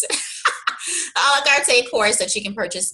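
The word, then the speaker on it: à la carte: In addition to a separate course, the a la carte, that's how you pronounce it, a la carte course that you can purchase just on inquiries, and that literally walks you through it.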